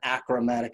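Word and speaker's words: achromatic: semi-plan objectives on it correct way to say it yeah it's infinity semi-plan acromatic objectives i don't keep saying the word acrobat because they're all acromath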